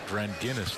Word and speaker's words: Dranginis: It's Dranginis, like the beer.